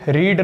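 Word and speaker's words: read: क्या है वर्ब है अब रीड की प्रोनंसिएशन में थोड़ा चेंज आता है स्पेलिंग वही रहती है पुट पुट पुट कट कट कट ये ऐसी वर्ब्स होती हैं जिनकी v1 v2 v3 सेम रहती है रीड में थोड़ा प्रोनंसिएशन में ें आता है रीड रेड रेड ऐसे करके बोलते हैं लेकिन मेरे भाई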